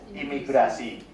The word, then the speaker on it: imigrasi: Immigration will be pronounced as imigrasi.